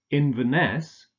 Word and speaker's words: Inverness: not Chicago Chicago Edinburgh Inverness stress on the last syllable and Aberdeen okay let's